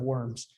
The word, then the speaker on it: Worms: what is now germany it's probably closer to like verms but we pronounce it different in the english so he delivered the